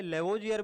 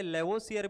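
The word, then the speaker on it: Lavoisier: English pronunciation का फर्क होता है, इसे लेवोजियर भी बोला जाता है, इसे लेवोसियर भी बोला जाता है।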